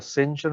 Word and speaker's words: sentient: That is why the T sounds like an S. This English is very strange. A T pronounced as S.